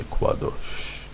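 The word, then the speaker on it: קדוש: The kuf is it has a Q sound in the ancient language of Hebrew. So if someone were going to say that something was holy, they would say, in modern Hebrew, they would say kadosh. But in ancient Hebrew, you would say kwadosh.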